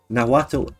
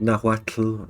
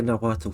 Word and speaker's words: Nahuatl: and by the way, I'm pronouncing that wrong because it's pronounced with that flick at the back of your throat thing, like Nahuatl or something like that. But I'll say Nahuatl for ease.